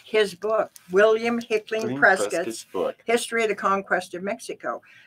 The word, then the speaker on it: Prescott: But it is pronounced by the family who decided to go with the colonists and against England, Prescott. So it's patriotic to call our town Prescott.